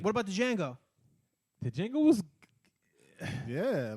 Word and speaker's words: Django: I think it's Django, D silent.